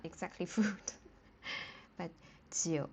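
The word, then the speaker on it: 酒: It has the same pronunciation as uh the number nine.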